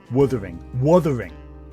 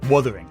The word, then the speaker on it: Wuthering: He keeps saying Withering Heights. Like, yeah, I'm sorry. Wuthering. Wuthering. I can say it eventually correctly.